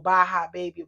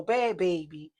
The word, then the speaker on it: Bhad Bhabie: it bad baby or bya baby I don't know her name you know but you know they said that the H is silent so bad baby you know I didn't